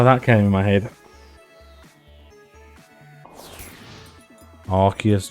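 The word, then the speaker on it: Arceus: try to refrain but it is definitely archus I 100% stand by that because we have got the arc phone that used in Legends archus and if we pronounce that the same way that we pronounced the other pronunciation of archus it has different connotations entirely doesn't it so it's archus Arch phone not arus and yeah moving on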